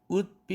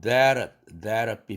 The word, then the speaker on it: that'd: That would be fine. That'd be fine. t가 링킹 되면서 플랩 되죠. that'd be. would be가 아닙니다. that'd be.